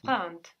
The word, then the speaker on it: trente: Trente. Good, and that's spelled Trente. So the N doesn't just disappear, it gets swallowed into the nose a bit, and that affects the vowel before. We see trente is spelled with an